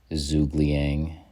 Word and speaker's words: Zhuge Liang: word huge in it liang rhymes with wang and his ability is